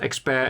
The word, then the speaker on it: Expert: It's actually pronounced Expert in Dutch.